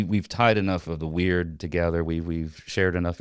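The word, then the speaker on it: wyrd: So So weird and it's it sounds like I'm saying that it's strange or weird and that's how it's pronounced, but it's spelled W Y R D.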